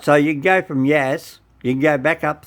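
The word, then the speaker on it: Yass: the story went to no it's not yas you won't find a yas it's yes y-a-s-s right y-i-s-s yeah yeah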